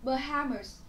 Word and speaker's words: Bahamas: Bahamas. Bahamas là quần đảo Bahamas ấy. Nhá, trọng âm từ này là dâm tiết thứ hai, quần đảo.